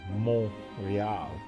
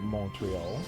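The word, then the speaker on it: Montréal: So, Montreal, for example, in Quebec, is the Rial Mountain, and so it's Montreal. And so they would not pronounce it Montreal. That is how English-speaking people pronounce it.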